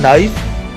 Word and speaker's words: knife: KNIFE K silent है, नाइफ.